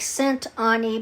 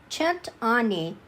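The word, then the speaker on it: cent'anni: had to look it up it looks like scent Anie but it's it's pronounced it's an Italian uh toast called chent chent Ani and it means uh may you live a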